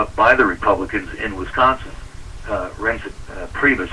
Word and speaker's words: Priebus: Priebus, I think his name is pronounced.